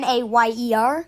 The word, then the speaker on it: Mayer: Sam Mayer, I think that's how you pronounce his last name. It's Mayer. Mayer, yes.